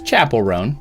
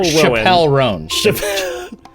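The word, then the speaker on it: Chappell Roan: It's Chapel-roan. Yeah, you got it. Oh, with a ch? Yeah. Okay. It's not Chappelle-roan. Very fancy, but that's not it.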